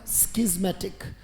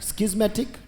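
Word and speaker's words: schismatic: जाता है उससे स्टिक उच्चारण क्या है बेटा स्कीमेटिक right स्किस्मेटिक Discord non कन्फॉर्मिस Regent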